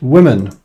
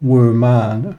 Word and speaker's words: women: side note it's pronounced women not were man not women it's pronounced women so imagine it was written with an eye whoops yeah well i